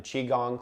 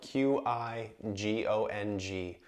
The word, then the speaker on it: Qigong: borrow some breathing sounds and techniques from the Qigong classes that I teach as well if you